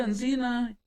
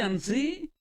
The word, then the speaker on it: así: le decía, no, David, no se dice Ancina, se dice Ansí.